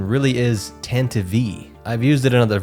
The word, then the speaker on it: Tantive IV: And the correct pronunciation really is Tantive V. I've used it in other videos, but it sounds so silly and I always used to say Tantive.